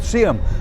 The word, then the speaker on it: Seaham: my first choice is in a place called seeum I went to photograph the famous sium wheels I believe that's how the place is pronounced by the way it reads Seaham if you wanted to